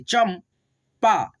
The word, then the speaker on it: चंपा: देखना यहाँ पे च पे लगा है अन की मात्रा यानी कि अनुस्वार, तो हम लोग इसको पढ़ेंगे चम, यानी कि म के रूप में उच्चारण करेंगे चम पा, चंपा। दोनों उच्चारण होता है, ठीक है, न और म।